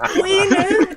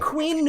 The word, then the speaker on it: Queen: Queen. You have to put emphasis on the N. You know what I'm saying? That's how Queen. You gotta put emphasis on the N. The Queen.